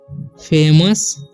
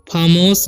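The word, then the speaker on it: famous: तो यहाँ पर लिखा हुआ है पूजा इज ए फेमस, ठीक है। इसे फामोस नहीं पढ़ना है या फामूस नहीं पढ़ना है, ठीक है। इसे फेमस पढ़ते हैं। ओ यू का उच्चारण यहाँ पर अ हो रहा है, ठीक है।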